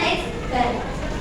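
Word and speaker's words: x̄: Ya, ini bacanya X bar.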